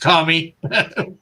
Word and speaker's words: kami: My understanding is that Shinto is based around the idea that everything has a spirit or kami, pronounced kami.